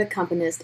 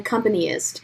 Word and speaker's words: accompanist: my old orchestra director didn't know how to pronounce the word accompanist and she always called me an accompanyist and i was like